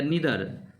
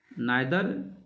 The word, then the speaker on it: neither: आप इसे जो हमारा प्रोनाउंसिएशन होगा, आप इसे आइदर या नीदर, जो आपके जुबान पर आए वो आप बोल सकते हैं। Both pronunciation are correct, नाइदर या नीदर, नीदर और